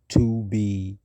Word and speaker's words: 2 B R 0 2 B: The zero in the telephone number he pronounced not. The number was 2BRO2B.